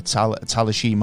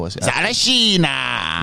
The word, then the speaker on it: Tsarichina: And this is what kind of allures me about the Talashima Hole, or the, I forget how to say it, so Tsarichina.